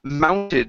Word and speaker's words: mounted: here is the word mounted so this is an ow sound instead of mounted okay this is uh